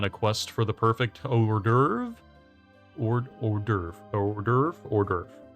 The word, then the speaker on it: hors d'oeuvre: On a quest for the perfect hors d'oeuvre? Hors d'oeuvre. That is how you say hors d'oeuvre.